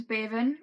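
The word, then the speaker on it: Beibhinn: Her name was Bevan. It's Irish. It's spelled Beibhiinn.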